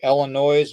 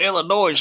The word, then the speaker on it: Illinois: It's not Illinois. It's Illinois. No, it's Illinois. Look how it's spelled.